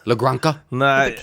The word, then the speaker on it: La Granja: J is an H sound in Spanish, right?